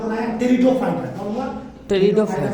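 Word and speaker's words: Pteridophyta: कौन हुआ, टेरिडोफाइटा में पी साइलेंट होता है, पी को पढ़ा नहीं जाता, याद रखना।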